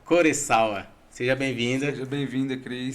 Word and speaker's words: Koressawa: É isso a pronúncia? Kurosawa. Kurosawa.